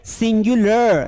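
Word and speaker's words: singular: है प्लुरल ध्यान रखना और ये है सिंगुलर नॉट सिंगुलर सिंगुलर नहीं है दोस्त अगर सिंगुलर बोला ना तो जिंदगी भर सिंगल रह जाएगा कोई घास नहीं डालेगा तुम्हें ना लड़की ना जॉब क्यों क्योंकि प्रोनंसिएशन में डिफेक्ट आ गया तो लोग समझेंगे तुम्हें बात करते नहीं आता है समझ में आया कि नहीं आया इसलिए इसे बोलना है सिंगुलर ठीक है अब सिंगुलर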